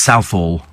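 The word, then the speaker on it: Southall: think it's Adidas we think it's is Hall pronounced South Hall or SEL no it's it's South Hall it's South I know because I used to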